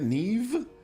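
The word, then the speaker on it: Niamh: headmistress Neve Fitzgerald neem how do they pronounce their Neve but with n i a m h oh do you do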